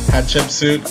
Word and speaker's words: Hatshepsut: Hatshepsut.